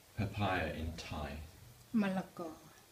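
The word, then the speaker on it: มะละกอ: Malago. Malago.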